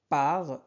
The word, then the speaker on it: par: Ici, on prononce R. Par ce dessin animé.